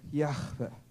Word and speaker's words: Yahvé: Cuando me puse a investigar cómo se pronuncia desde la raíz hebrea el famoso YHVH, porque yo decía, si lo pronuncio así, han de decir que es hermano de Artudito, ¿no? Y dice, los judíos lo pronunciarían como Yahvé, ¿no?